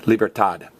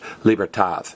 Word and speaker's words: libertad: is the primary language about half of them pronounce the Diaz addy libertad the other half pronounce the D Moore is a th libertad so you can save